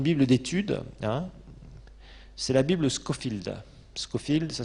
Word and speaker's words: Scofield: qui est une bible d'étude c'est la Bible Scofield Scofield ça s'écrit SCO et field comme un champ en